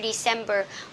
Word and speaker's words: December: Okay, remember from from September to December, we will stress at the second syllable.